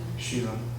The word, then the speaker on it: Schiele: Sure, and like Egon Schiele, I don't even know how to pronounce it out loud. I've never studied. Sheila.